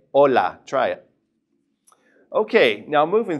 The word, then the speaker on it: hola: we would simply say hola. We don't pronounce the H whatsoever. So, we just simply say hola.